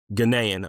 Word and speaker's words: Ghanaian: Um he's a gyian. Is that how you pronounce it? Ganaian Ganaian okay Ganaian uh he he uh migrated here